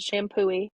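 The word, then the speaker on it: Champoeg: that we ran through it's called shampoo not spell how you think at all spelled like shampo Park um called shampoo park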